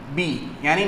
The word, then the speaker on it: Biot: Okay, अब हम लोग पढ़ेंगे डिटर्मिनेशन ऑफ बी, यानी मैग्नेटिक फील्ड कैसे डिटरमाइन करते हैं। तो इसको डिटरमाइन करने का एक ही तरीका होता है, बायो, इसमें टी साइलेंट होता है, बायोट सेवर्ट लॉ पढ़ना पड़ेगा इसके लिए।